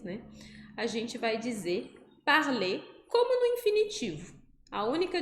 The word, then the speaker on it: parle: Je parle vai ser com a letra E no final, e ela não é pronunciada.